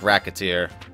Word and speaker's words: Recettear: and racketeer really I didn't even think about pronouncing it like racketeer and and so a fairy suddenly entered my